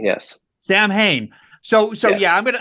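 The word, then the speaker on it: Samhain: south ham how do you say that uh samane yes Sam Hayne so so yeah I'm gonna I'm gonna play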